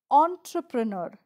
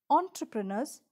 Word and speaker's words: entrepreneur: of the most famous entrepreneurs in the world entrepreneur the e n gives a on sound o n sound not a n but a on entrepreneur so let us go